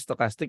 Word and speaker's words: stokastik: Ini cara bacanya stokastik ini kalau di 0 sampai 20 itu dia harus nge-buy.